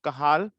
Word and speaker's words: Cajal: In Spanish, you can spell it, pronounce it as Cajal.